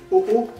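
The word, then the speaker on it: Ho-Oh: Oh-Oh. Oh-Oh. Oh-Oh. Avec Oh-Oh. Bah quoi, le H ça se prononce pas vraiment en français.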